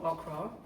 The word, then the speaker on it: okra: store I was like I had to change how it's pronounced because you know you say Oka to an American they'll be like what you talking about sorry that was my